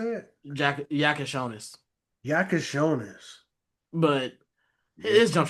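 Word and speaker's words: Jakučionis: Jack Yakonis.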